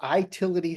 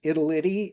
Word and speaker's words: Itility: Um we are Itility Health. Um as in an information utility. Uh we have all kinds of interesting pronunciations. Italy uh as an Italian gelato company or or all kinds of interesting approaches to to saying our name.